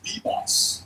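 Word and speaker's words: Vias: V I A S pronounced V. Boss. Boss. Really? Yeah. V becomes a B.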